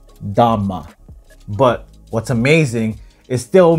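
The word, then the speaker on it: 大麻: In Chinese, this is pronounced Dhamma, but What's amazing, it still means weed.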